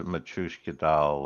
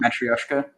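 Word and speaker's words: matryoshka: you know much more of a Matuska doll um matrioska yeah matrioska sorry thank you my problem my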